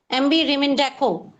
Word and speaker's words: Rimindako: Okay, yes, MB Rimindako. Okay. I'm pronouncing it correctly or not? It's correct.